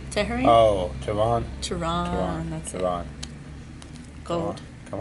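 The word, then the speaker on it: Teheran: Tehran.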